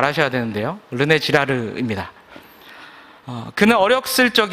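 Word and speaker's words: René Girard: 유명한 인류학자 의자 사상가이자 기독교 변증 과가 있습니다 발음을 잘 하셔야 되는데요 르네 지라르 입니다 그는 어렵 슬쩍 에 엄격한 기독교 집안에서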